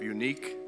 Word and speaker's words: Uneek: name is michael bungert senior vice president of unique that's spelled u-n-e-e-k salon number 311 of los angeles